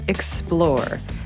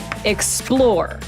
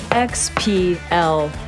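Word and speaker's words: XPLR: right for you meet explore the newest addition to the swam gravel family pronounced explore not XR we created this gearing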